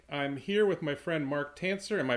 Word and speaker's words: Marc Tancer: is Warren Redlich I'm here with my friend Mark tan sir am i pronouncing it right mark that is correct Warren